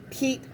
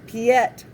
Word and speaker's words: Piet: say his name is piet mondrian i've heard that also but that's because they're trying to pronounce the name pete by what they see p-i-e-t piet and but in reality